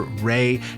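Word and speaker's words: Rei: Solar Ray, now this is spelled R-E-I, Solar Ray does cute animal stickers,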